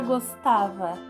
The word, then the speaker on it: gostava: é uma oxítona e a palavra gostava gostava tem o tá como sílaba tônica e ela aparece aqui ó não aparece na última ela aparece na penúltima sílaba e quando é penúltima sílaba é paroxitona vou falar